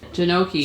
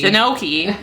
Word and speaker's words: gnocchi: cauliflower gnocchi is that how you say gnocchi janoki jinoki come for the cooking stay for the mispronunciation of everything gnocchi gnocchi I said it right so you're talking to